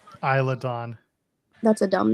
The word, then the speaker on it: Isla Dawn: in fairness to him, they also pronounce it wrong in Jurassic Park. this isn't Jurassic Park, damn it. But I mean, that's like so many people think it's pronounced Isla when they see it on a map because of that movie.